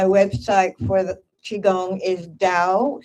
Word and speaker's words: Dao: And my website for the Qigong is Dao, spelled with a D, Dao Qigong Life, QIGONG Life, LIFE.